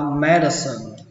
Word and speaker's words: medicine: Y học đọc là medicine, medicine. Nó ghi ở đây âm c nhưng mà cách đọc của nó là âm s, medicine, medicine.